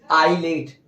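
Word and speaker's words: isle: कम बार मिलता है लेकिन आई और ल के बीच में अगर आता है आई और ल के बीच में अगर आता है तो वो साइलेंट होगा कैसे एग्जांपल है ना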